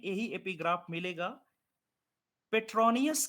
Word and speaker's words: Petronius: ठीक है, देखिए, एक लैटिन पोएट हैं जिनका नाम आप लिख लें, पेट्रोनिकस।